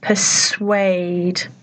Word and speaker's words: persuade: issue introduce and persuade note the pronunciation persuade it's a very unusually spelled word so see if you